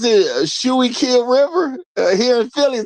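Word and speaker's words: Schuylkill: How you pronounce it? Shy Kill River here in Philly. Is that what we doing? Shy Kill River.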